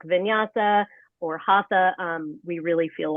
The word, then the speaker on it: Hatha: But I was reading before, I just don't laugh at me the way I pronounce it, but is it Hatha and Yin?